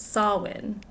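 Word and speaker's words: Samhain: Sawin is pronounced kind of like you're saying salmon but without the w sound instead says sawin.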